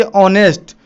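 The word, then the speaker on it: honest: एच एक consonant word है, तो हमें यहाँ ए लिखना चाहिए, लेकिन एच यहाँ साइलेंट है। जब हम इसे पढ़ते हैं तो इसे ऑनेस्ट, इसका उच्चारण आ रहा है ओ।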